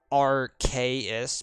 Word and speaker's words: Arceus: But, yeah, it was like, I mean, technically his name is supposed to be pronounced Arceus because he's supposed to be like arcane, like arcane in the arcane with a K, as in like it is an old antediluvian entity.